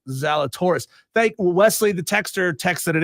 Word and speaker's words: Zalatoris: on Wesley says, no, it's not, and it's pronounced Zalatoris. Wesley, the texter, texted it in wrong. He texted in Zalatoria.